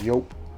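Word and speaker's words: Joop!: This next one is from the house of, I know it's supposed to be pronounced Yope, but in Alabama we pronounce J's. The house of Juche.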